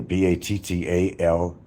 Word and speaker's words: Battaglia: You might find that the G is silent. Why do they bother? Take the G out and just say Battaglia, Battalia, with no G.